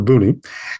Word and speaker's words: Boonie: just beforehand but uh we're generally referred to as boomi or booney and so let me just get a little about who booney is so booney is